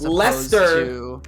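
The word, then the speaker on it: Leicester: is different like i'm pretty sure we would phonetically read that word as lester and lester shire as is a very ancient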